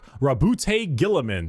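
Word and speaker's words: Roboute Guilliman: Primarch, Rabute Gilliman.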